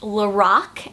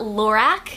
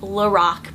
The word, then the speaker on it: LORAC: brand is actually pronounced lorac and not lorac I met a girl that does work for lorac and she said that the name is pronounced lorac because it's actually the creator's name backwards so Carol and backwards